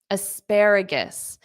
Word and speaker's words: asparagus: Asparagus. Notice at the ending of this, it's gis, is, gis.